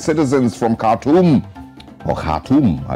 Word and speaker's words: Khartoum: It says Tanzania's bold rescue mission of its citizens from Khartoum. Or Khartoum, as it's pronounced.